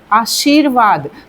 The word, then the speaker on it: आशीर्वाद: तो हम जब उच्चारण करेंगे इसका आशीर्वाद यानी श जो शी बोलेंगे उसके बाद र आ रहा है तो उसके बाद आ रहा है तो यहां पर लगेगा आशीर्वाद बन जाएगा इसका।